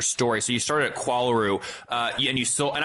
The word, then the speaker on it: Qualaroo: So you started at Qualaroo uh and you sold and I'm pronouncing that correctly, right?